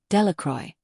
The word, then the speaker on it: Delacroix: Bobby and Harry Jones and Dickie Delacroix, the people in the town pronounce his name, Delacroix, make a very large